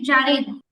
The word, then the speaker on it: জারিন: ওকে, তারপরে হচ্ছে জারিন। জারিন আপু শুনতে পাচ্ছেন? আসসালামু চট্টগ্রাম আলাইকুম থেকে। আপু। আপু আপনার নামের উচ্চারণটা কি জারিন না জেরিন, যদি একটু বলতেন। জারিন। জারিন, আচ্ছা।